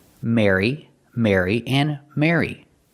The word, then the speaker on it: Mary: Just pronounce them all the same, with the air sound, like hair and chair. Mary, Mary, and Mary.